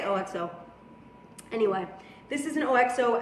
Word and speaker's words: OXO: How do you pronounce it? I wish people out there. OXO. Some people call it OXO. I say OXO.